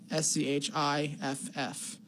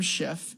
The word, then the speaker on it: Schiff: It rhymes with fit.